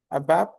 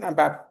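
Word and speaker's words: ABAP: One is ABAB. ABAB. Okay. ABAB. What is ABAB stands for? Never ever call it as a ABA. Clear? Always pronounce it as an ABAB.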